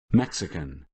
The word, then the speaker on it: Mexican: syllables Peru mhm but a word like for example um Mexican that we had Max can three syllables and the stress is on the first one making it Mexican Mexican Mexican okay excise